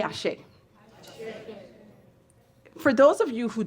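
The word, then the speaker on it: Àṣẹ: a he e again all of it is pronounced Ashe it means so be it or may it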